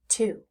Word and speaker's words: to: It Again T to now let's focus on why this word is irregular please look at the vowel sound or the O when we hear the sound in the word we're hearing ooh but it's spelled with